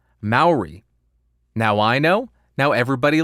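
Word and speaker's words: Māori: mayori is pronounced mari with ma pronounced like mao as in the chairman mao of china david thank you very much so it is not maori it is not mari it is maori maori now i know now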